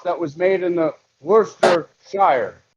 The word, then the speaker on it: Worcester: word the word oh it's Worcester Source what Worster come on yeah yeah it's not spelled like that but that's how we say it